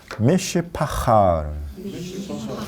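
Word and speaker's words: משפחה: 그 가족을 히브리어로 미시파하. 네, 미시파하. 미시파하. 제가 미시파하 그래요. 미시파하 그래요. 네, 그러면 헤이가 아니라 헤트다.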